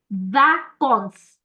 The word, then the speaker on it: vacances: Always remember when the letter C is followed by the alphabet A, it gives you the hard sound ka, like kado. Okay? Instead of the soft s sound.